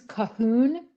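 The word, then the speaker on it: Colquhoun: of my favorite portraits this is cohen which is spelled c-o-l-q-u-h-o-u-n i also love his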